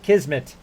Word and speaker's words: Kismet: You pronounce it kismmet.